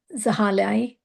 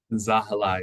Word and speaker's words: Zahilai: And I'm going to ask Councilmember Zahali. I want Zahali or Zahalai? Zahilai. It rhymes with my first name, if that helps.